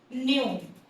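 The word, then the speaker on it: ν: हम क्या प्रोनाउंस करते हैं इसको? हाँ जी, क्या प्रोनाउंस करते हैं इसको? न्यू। क्या प्रोनाउंस करते हैं इसको, न्यू प्रोनाउंस करते हैं, इट्स न्यू।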